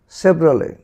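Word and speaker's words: Chevrolet: এরকম যদি দেখো ইর পরে টি থাকে, সেটির উচ্চারণ কিন্তু হয় না। তাহলে এটির উচ্চারণ কীভাবে হয়? ব্যালে, ব্যালে, ব্যালে, ভ্যালে, ভ্যালে, ভ্যালে। বুকে, বুকে, বুকে। সেভরালে, সেভরালে, সেভরালে।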